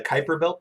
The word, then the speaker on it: Kuiper belt: period comets come from someplace called the Kuiper belt that's how you pronounce that word Kuiper belt that are located beyond